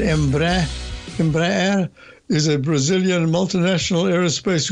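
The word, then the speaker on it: Embraer: High absolutely this is emba sa Portuguese pronunciation embre is a Brazilian multinational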